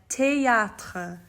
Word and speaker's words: théâtre: tell you as well, is not th like it is in English, but it's t, okay? So that TH needs to be said as t.